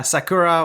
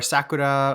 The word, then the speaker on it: sakura: pronounce the sakura yeah sakura or sakura or something like that you just you want to hit that r sakura yeah that japanese i